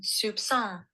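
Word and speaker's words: soupçon: and it's app let's see if I can Soup song did you hear it okay I'll play it again just Soup song Soup song yeah and it means a very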